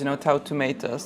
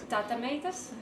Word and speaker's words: Tautumeitas: I try to do my best with names, Tautumeitas. Did I say it correctly? Yes, perfect. Because I've seen some confusion on social media. What was like the weirdest pronunciation you've heard of Tautumeitas? Tautumeitas.